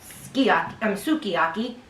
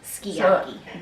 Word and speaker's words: sukiyaki: Japanese language, they drop some of the vowels when they speak. But if they are born and raised here Japanese and they're working in a Japanese restaurant, they probably call it sukiyaki, and the older generation, I'm sure, calls it So skiyaki.